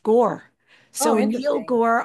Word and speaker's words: Gaur: Neil, so we always called him Neil Gar, GAUR, but I found out recently GAUR is pronounced Gore.